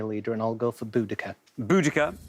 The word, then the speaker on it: Boudica: I always pronounce that Boadicea. Well, I know. We were of a generation that was taught Boadicea. Yeah. And it's now become Boudica.